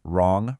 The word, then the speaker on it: wrong: Just like we see here, right, wrong, rap, wrist, wrote. You don't say W, right? You just say it right.